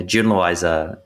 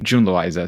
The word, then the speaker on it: June Loiza: Yeah, June Loiza is the English J. Exactly, June Loiza.